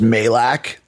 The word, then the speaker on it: Majlak: It's pronounced Majlak. The J is silent.